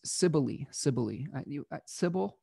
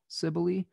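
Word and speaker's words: Cybele: the myth of sybil as sibilly sibili i've seen it pronounced a number of of ways i'm going to call it ciboli today but this is from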